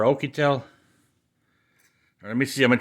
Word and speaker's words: Oukitel: smartphone oh i oh i say okie tell but it's spelled o u k i t e l i think it is yucatel or okitel let me see i'm